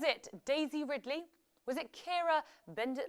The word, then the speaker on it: Keira: The right answer is Keira Knightley. Now, actually, in the credits, they got her name wrong.